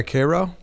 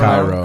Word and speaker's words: Cairo: Oh yeah, Cairo. No, Is no, that- no, no, no. Cairo. Cairo? Yeah, Cairo. Cairo? Yeah. It's pronounced Cairo.